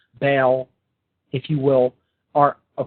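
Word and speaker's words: Baal: Taurus the Bull again we have similar phonetic pronunciations bull Bell bill another name for this God was Bale b a a l now not to diverge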